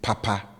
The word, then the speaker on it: papa: example Papa as good will always be Papa with high tone on both syllables all right so as